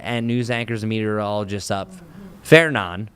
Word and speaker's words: Fernand: Fernan is how you pronounce that one.